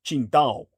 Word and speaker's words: Qingdao: Now it would be spelled with a Q instead of the old Wade Giles transliteration of Tsingtao. It's Qingdao.